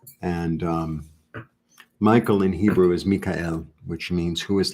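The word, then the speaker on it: מיכאל: But in Hebrew, it's Mikael.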